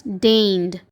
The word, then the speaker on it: deigned: Again, the letter G is silent in this word. The word is pronounced as deigned.